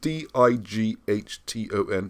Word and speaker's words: Dighton: Did you say Dighton or Digton? I don't know how to say these words. It's Dighton. It's like Brighton but with a D, so I call it Dighton.